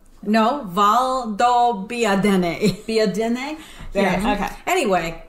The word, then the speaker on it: Valdobbiadene: Okay, so Pam, help me pronounce this. You say the first one. Okay. Conegliano. Conegliano. Something like that. Valdobbiadene. No, Valdobbiadene.